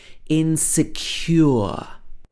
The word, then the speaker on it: insecure: might feel very insecure this has the uh sound at the end insecure men don't have the